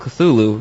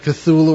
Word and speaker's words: Cthulhu: Of course, the pronunciation of Cthulhu or Cthulhu or whatever is really, it's spelled Cthulhu, but Lovecraft went to great pains in his somewhat jocular letters to say it was not meant to be pronounced by human vocal cords, because he was very